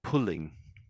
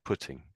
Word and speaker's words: putting: So when you said it, I thought you said pulling. Pulling. So how would you say this word again here? Pudding. Pudding. Yeah, putting. So it's putting.